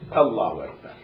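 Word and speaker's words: الله أكبر: If you prolong Hamza, breaks Salah. Fit takbirati in takbir. Meaning what? Allahu Akbar. The pronunciation is Allahu Akbar.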